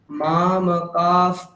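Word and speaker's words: मामकाः: হ্যাঁ হ্যাঁ, কি আছে? মা মা কা আছে, তারপর এটা ফকার উচ্চারণ করতে হবে, তারপর পাণ্ডবা বলতে হবে, ঠিক? দেখুন আবার বলছি, মা মা কাফ পাণ্ডবাশ্চৈব।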